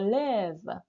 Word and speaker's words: lève: Pour la prononciation, parce que c'est un E qui est long, n'est-ce pas? Je me lève.